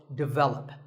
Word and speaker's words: develop: But the first syllable is actually de, and the stress is on the second syllable, so develop.